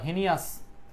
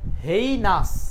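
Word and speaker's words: heinous: হেনাস এটাকে আমরা হিনাস বা হেনিয়াস বললে ভুল হবে। দুইটা এই দুইটাই আসলে বললে ভুল হবে। এখন বলেই ফেললে তো আর কিছু করার নাই। তো শব্দের উচ্চারণটা কি? হেইনাস। হেইনাস।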